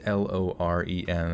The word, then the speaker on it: Loren: uses a girl's name lauren is pronounced lauren it is of english descent okay well we can do that then it's l-o-r-e-n i guess it's pronounced loren like really emphasis like as if though it's like thor lauren zimmerman a retired